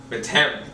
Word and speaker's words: Methem: Is that how I pronounce it? Methem. M-E-T-H-E-M. Methem.